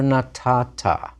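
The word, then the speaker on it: נָתַתָּה: You gave, masculine singular, natata. Notice that silent hey at the end.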